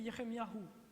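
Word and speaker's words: Yirmeyahu: nom de Dieu et leur nom se prononce ainsi pour Ie c'est elahou pour Jérémie c'est yeremiahou et et donc le nom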